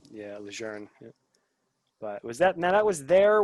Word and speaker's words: Lejeune: Yeah, Camp Geiger, right there by Camp Lejeune, I guess is the correct pronunciation. Yeah, Lejeune.